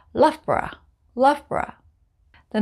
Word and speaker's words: Loughborough: it's a borah sound so we just say loughborough love bra the names in the next group